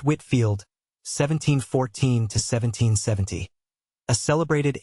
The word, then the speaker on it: Whitefield: and other disagreeable consequences George Whitefield pronounced Whitfield 1714 to 1770 a